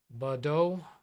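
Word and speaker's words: Baudot: in tele printers named Bodo code or Bodo yeah I think silent T do you mean five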